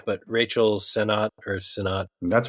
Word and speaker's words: Sennott: Anyway, so Rachel Sennott.